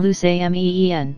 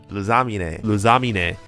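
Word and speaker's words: Lusamine: name was very irritating it's Lily and loose amen so apparently their correct way to pronounce is Lily and zameen and I pronounced in the video as Lilia Lilia and lasagnine now I have some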